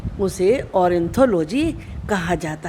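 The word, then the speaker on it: ornithology: ऑरिंथोलॉजी, इसको तो कोई प्रोनाउंस करना मुश्किल नहीं है, ओ आर से और हो गया, एन आई नी थोलॉजी, ऑरिंथोलॉजी।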